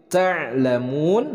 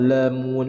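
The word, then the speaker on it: تعلمون: Ta'lamun, nah dalam pelafalan ain disukunkan, itu harus jelas berasal dari tengah tenggorokan. Ta'lamun, ta'lamun. Jadi la-nya dibaca jelas, bukan lamun, lamun.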